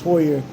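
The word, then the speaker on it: Heuer: Vintage Hoyer.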